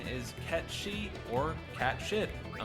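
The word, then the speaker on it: Cait Sith: is often confused as Kate Sid due to how it's spelled however it's true pronunciation is cat she as the name is Scottish Gaelic which means fairy cat this explains why he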